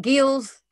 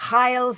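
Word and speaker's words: Geels: uh the multi-level perspective some people call it gills others will call it heils it depends which part of europe you want to say his name from but we use this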